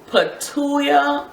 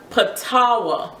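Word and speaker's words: Patauá: these past two weeks have been the new net patua oil. Let me make sure I'm saying that right. Oh, it's pronounced patawa.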